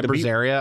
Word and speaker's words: Berseria: I still think Vesperia, not Vesperia, Bizarria. How do you even pronounce that one? Yeah, Berseria.